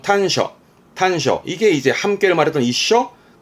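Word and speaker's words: 端緒: 발음은 탄셔.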